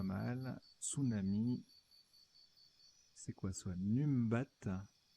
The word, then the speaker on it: numbat: C'est quoi soit Numbat. Alors, ça se prononce Nombat.